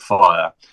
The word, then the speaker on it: Fyah: So, you've got House of Fire and it's spelled FY. I'm dyslexic. You did tell me. And I've got it up here. Tell me how it's spelled, Matt. F Y A H.